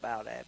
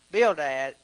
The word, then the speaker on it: Bildad: I said Bildad. Bildad. That's how I pronounce it.